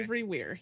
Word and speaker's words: Avery-Weir: Am I pronouncing that right? Okay. Avery-Weir, yep.